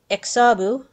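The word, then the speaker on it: Xabbu: into this her student exabu whose name is technically supposed to be pronounced with a click before the x but i cannot do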